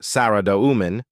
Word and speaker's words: Saradomin: Saridomomen, pronounced Sariduman, also known as the